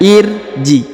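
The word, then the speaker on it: ارجعي: Maka dibaca irji atau irja misalnya. Irja, bukan urja ya, tapi irja.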